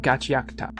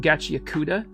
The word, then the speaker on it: Gachiakuta: Unlike what that guy said, it's not two separate words. It's Gachi and Akuta smashed together into one word.